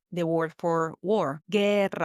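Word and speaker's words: guerra: Ger, the U there is silent here. You pretend like it's not there.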